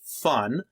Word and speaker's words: fn: implements one of these FN pronounced fun family of traits meaning